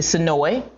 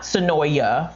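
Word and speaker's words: Senoia: I'll let you know um we went to sonoi which is not sonoya for those folks who pronounce it sonoya it is just south of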